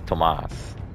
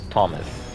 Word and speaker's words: Tomas: I find it funny that they actually bother to pronounce Smoke's name as Tomas. They don't call Thomas. Thomas, Tommy. No, they call him Tomas.